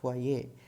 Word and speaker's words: foyer: L it becomes loi, with F it becomes foyer. The last word would be pronounced as foyer.